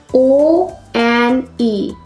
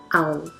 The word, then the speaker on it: one: It's not own. It's one. O-N-E. One. Not own.